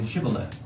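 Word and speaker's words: Shibboleth: would say to him now say shibale but he could only say symbol that where he could not pronounce it correctly and and uh uh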